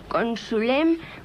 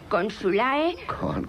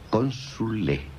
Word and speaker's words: consule: Consul, consulis, consuli, consulem, consulae. No se pronuncia la A. E. Consule.